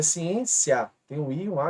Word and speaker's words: ciência: ó ciência Observe aqui ciência aqui levou assento e é uma paroxítona porque a penúltima é a sílaba mais forte mas alguns de vocês